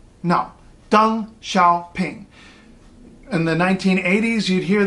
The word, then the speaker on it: Deng Xiaoping: ping now that looks like it might be pronounced Deng Xiaoping right no dung Xiao ping in the 1980s you'd hear the guy's name